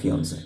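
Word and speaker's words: fiancée: ফিয়ন্সে আর ফিয়ন্সে, দুটোর প্রোনাউন্সিয়েশনই কিন্তু ফিয়ন্সে হবে।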